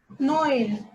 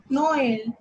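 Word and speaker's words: Noël: For example, Noel, Noel. In this, there is a trema over the letter E, so O and E need to be pronounced separately.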